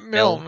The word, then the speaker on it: Milne: But And then your guy, Dax, is it Dax Malign? Is how you say his name? Milne, ain't it? Yeah.